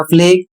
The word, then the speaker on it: plague: इसके नीचे एक शब्द है PLAGUE, इसे पढ़ा जाएगा फ्लेग और इसकी हिंदी होती है महामारी।